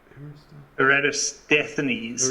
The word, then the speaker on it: Eratosthenes: It's Eratosthenes.